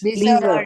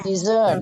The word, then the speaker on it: dessert: Kalau desert makanan penutup sama desert gurun pasir bacanya gimana? Beda ya. Kalau gurun pasir itu desert ya. Desert. Desert. Desert. Desert. Nah, kalau kalau yang makanan penutup itu S-nya yang double ya, Guys.